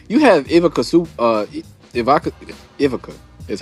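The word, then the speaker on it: Ivica: because I mean you have IA uh Ivaka Ivaca is how you say his name.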